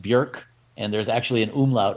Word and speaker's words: Björk: or interviewers called her Bjork, and she looked at him, and butter wouldn't melt in her mouth. She just looked at him and she said, "It's pronounced Björk, like jerk."